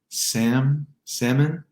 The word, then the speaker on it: salmon: The last 2 words won't pronounce the L in salmon, salmon, or walk.